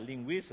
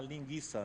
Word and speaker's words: linguiça: Na hora que ele for pronunciar linguiça, não tem trema, ele vai falar linguiça, né?